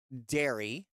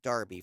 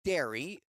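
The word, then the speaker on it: Derry: I always want to say Darby for some reason, but it's dairy, but it's not spelled like the cow dairy. It's spelled like the uh town. D E R R Y.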